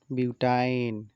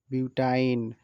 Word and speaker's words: বিউটাইন: আমরা দেখতেছি নামের উচ্চারণ এই শ্রেণীর যৌগের নামের শেষে আইন উচ্চারিত হবে যেমন ইথাইন পেন্টাইন যৌগ দেখে চেনার উপায় কার্বন ও কার্বনের মাঝখানে একটি ত্রিবন্ধন অর্থাৎ সি ট্রিপল বন্ড সি থাকবে যেমন বিউটাইন এক দুই তিন চার